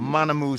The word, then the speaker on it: Manamuz: And start conversations from Manamuz Electric. Manamuz Electric. Okay. All right. Manamuz spelled with a Z at the end. Mana spelled as pronounced.